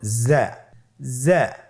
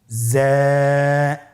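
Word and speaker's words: ز: তাহলে হরফটির নাম কি যা আবার বলুন যা উচ্চারণ করার সময় অবশ্যই এক আলিফ টেনে পড়তে হবে এক আলিফ টেনে পড়তে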